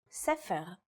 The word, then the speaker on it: sefer: In the word for book, or sefer, it's pronounced with a f sound.